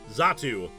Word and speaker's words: Xatu: Xatu. Usually when an X. Okay. Yeah, usually, in English, usually when an X is used first in a word, usually you have a Z sound.